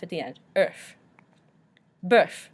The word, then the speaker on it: bœuf: Bœuf, again that we talked about beef, the O-E-U noise of and then we pronounce the F at the end, bœuf.